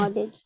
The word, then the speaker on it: knowledge: ये के नॉलेज नहीं है, ये नॉलेज है. के जो है यहाँ पे लिखा हुआ तो है लेकिन साइलेंट होगा. ठीक है. Knowledge.